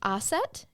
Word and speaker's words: Ossett: Yes, we are in Aset. It's a market town near the city of Wakefield. I'm sure you pronounced all of those wrong. I did. No, I pronounced them right.